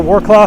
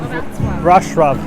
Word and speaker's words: Wrocław: And what's that little city I like I always want to call Warclaw, honey? How do you say it? Wrocław.